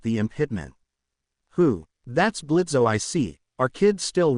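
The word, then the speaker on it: Blitzø: That's Blitzo, I see. Are kids still running away from you? The jester robot taunts. No, and anyway the O is silent now, you iron moron.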